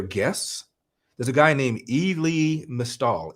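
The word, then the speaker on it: Elie Mystal: there's a guy named e lee mistahl i e-l-i-e-m-y-s-t-a-l-i that's how he pronounces his name he's a black guy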